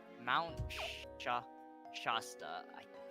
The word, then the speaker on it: Shasta: The a in the first syllable is short like hat. So, shasta.